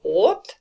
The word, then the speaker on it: 옷: So again, we've got 옷, which means clothes.